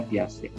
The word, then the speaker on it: Piaget: dengan semuanya teori plastik tulisannya Piaget gitu tapi kita bacanya piace piace mengatakan bahwa pembelajaran